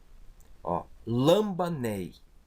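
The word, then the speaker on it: λαμβάνει: Então, eu tenho aqui uma palavra, lambanei. Lambanei, o acento está aqui. A sílaba ba, né? o beta e o alfa, ba, é a sílaba tônica, e o acento então está em cima da vogal.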